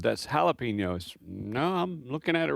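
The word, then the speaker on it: jalapeño: And she chuckled and said, "That's jalapeno." No, I'm looking at it right here. It's a J. Jalapeno. She said, "Well, in Texas when you see a J, often times it's pronounced with an H."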